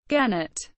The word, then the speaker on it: Gennett: Genet pronounced with a soft G was an American record